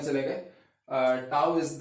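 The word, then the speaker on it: tau: टाउ जो होता है this is pronounced as टाउ।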